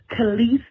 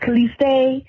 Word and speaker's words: Calise: Hi, this is Calise, and it's pronounced Calise, not Caliste, not Calista. It's Calise.